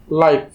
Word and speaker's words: lie: তো এখন উচ্চারণের নিয়ম অনুযায়ী যদি কোনো ওয়ার্ডের শেষে আই এবং ই একসাথে থাকে তখন সেই আই এবং ই কে আমরা একসাথে উচ্চারণ করব আই।